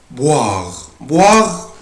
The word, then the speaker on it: boire: viennent elles viennent الفيرب اللي بعد كده verbe boire يعني يشرب يبقى انا بنطق الاو اي او الاو اي بنطقها boire